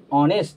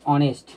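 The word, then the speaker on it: honest: এন বসে এখন অনেস্ট তাহলে দেখো এইচ এর উচ্চারণ এখানে কি হচ্ছে অনেস্ট তাহলে কি হবে এখানে অ্যান অনেস্ট তখনই হবে অ্যান অনেস্ট যখন এইচ এর উচ্চারণ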